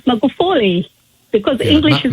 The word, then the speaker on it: Magufuli: My pronunciation is exactly like how you couldn't pronounce Magufuli, because English is not my first language. No. Magahuli? Magufuli. Magahuli. No. Yes. Gu. It's the gu which you can't pronounce properly. It's gu. Go. Magufuli. Magahuli.